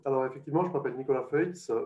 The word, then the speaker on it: Feutz: Alors effectivement, je m'appelle Nicolas Feutz, vous pouvez prononcer Feuze, ça me va très bien. En France, on prononce plutôt Feuze, à Genève aussi. Dans le reste de la Suisse, c'est un peu plus alémanique, et donc on va dire qu'on prononce à l'alémanique Feutz.